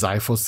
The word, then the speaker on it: Xiphos: remember, guys, because we didn't know how to pronounce that. But yes, officially it's Xilonen, and yeah, Xiphos is Xiphos.